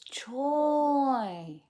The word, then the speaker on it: Troy: Am I pronouncing it wrong? Choy. Oh, you're very welcome. Oh, it's Troy.